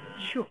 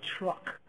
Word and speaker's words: Chuuk: And even Chuuk used to be called truck because it was anglicized. Nobody could pronounce Chuuk, so they said truck.